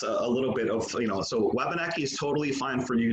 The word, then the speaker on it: Wabanaki: in the Abenaki dialects, they would actually translate it as Wabanakig. So they wouldn't have that chkwa at the beginning of it.